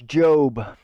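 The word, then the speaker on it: Jób: My name's Job. It's an Old Testament name from the Bible. J-O-B, spelled like job, but it has an accent above the O.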